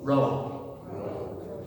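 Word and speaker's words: rho: next to you have a letter that looks like what a p sum but it's actually not it's ro row okay so c omocrron pi pi row.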